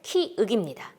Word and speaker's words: 키읔: 때문에 기역 때문에 자꾸 혼동이 와서 키역 이렇게 발음을 하고 이름을 알고 있는 경우가 있는데 키윽입니다.